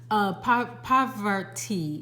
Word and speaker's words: Parvati: Parvati is how her name is pronounced, and it says devotion up under here.